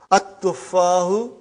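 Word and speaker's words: التفاح: At-tuffahu. Okay. See, there is no shadda anta. Dhamma is given. But now your mind knows that that is a sun letter. So you will pronounce as at-tuffahu.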